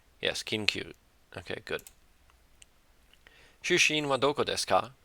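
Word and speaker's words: 出身: Shushin wa doko desu ka? Or shushin, because there's kind of like a stop there, I think.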